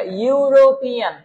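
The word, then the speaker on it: European: আমি যদি আপনাকে এটার ফুল উচ্চারণ লিখি তাহলে এরকম হবে, ইউ, তারপর হচ্ছে রো, তারপর হচ্ছে পি, এরপর হচ্ছে এন। হ্যাঁ, এটা ইউরোপিয়ান।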